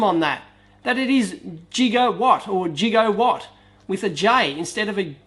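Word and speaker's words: gigawatt: said no it's jiger it's pronounced j instead of Giga so I yeah jigo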